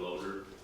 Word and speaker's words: Loader: Loader here? Yes, Am I pronouncing that right?